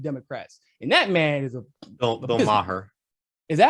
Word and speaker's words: Bill Maher: then couple that with the disaffected liberals, the Bill Myers, even Bill Myers done with the Democrats. And that man is Bill Maher.